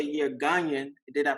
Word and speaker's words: Ghanaian: say you're Ghanaian, did I pronounce that correctly?